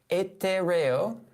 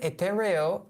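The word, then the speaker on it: etéreo: And I can see it's pronounced here etereo. Hope I'm doing that okay. The word etereo is an adjective in Spanish that means ethereal or heavenly.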